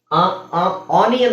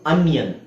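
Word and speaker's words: onion: junior ಯ ಬರಬೇಕು ಅಲ್ಲಿ ಆನಿಯನ್ ಅಂತ ನಾವು ಏನ ಹೇಳ್ತೀವಿ ಆನಿಯನ್ ಅಲ್ಲ ಅದು ಅನಿಯನ್ ಇದರ ಉಚ್ಚಾರಣೆ ಹೆಂಗೆ ಬರಬೇಕು ಗೊತ್ತಾ ಅ ಯಾವತ್ತು ಅನಿಯನ್ ಯಾವತ್ತು y ಇಲ್ಲ y ಬದಲು ಅಲ್ಲಿ ಐಓ ಇದೆ ಐ ಅನಿಯನ್ ಅನ್ಯನ್ ಬನಿಯನ್ ಮಿನಿಯನ್ ಕಂಪಾನಿಯನ್ ಕಂಪಾನಿಯನ್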